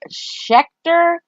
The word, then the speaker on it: Schechter: The Serial Killer Files, and it's by Harold Schechter, and I'm going to spell it.